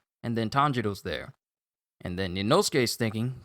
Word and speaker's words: Tanjiro: And then Tanjiro, because the father pretty much used the tree like a giant baseball bat, knocks Tanjiro into the air, with Inosuke mispronouncing his name again, calling him Kentaro!